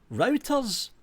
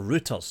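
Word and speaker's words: Reuters: Are you routers is a little bit more neutral or routters depending how you want to pronounce it.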